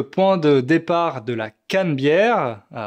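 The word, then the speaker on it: Canebière: C'est aussi le point de départ de la cannebère prononcé cannebère qui est l'avenue principale de la ville sur laquelle il y a des restaurants, des boutiques et cetera.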